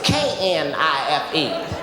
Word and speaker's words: knife: She said the K is silent.